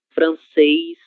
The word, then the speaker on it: francês: Letra E, acentuada com o acento circunflexo, seguida da consoante S. Ele sempre terá esse som eis, certo? Português, inglês, japonês, francês, ok?